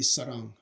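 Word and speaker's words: 사랑: But anyway, the same character in Cantonese is actually pronounced Ngoy in Cantonese. And then in Korean, it would be Sarang.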